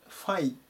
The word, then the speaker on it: find: ですね Find Find 発音に注意してください FE て読まないで Find Find ていう風に読みます見つけるとか発見